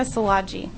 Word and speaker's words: Salaji: My name is Salaji. It's just like it looks.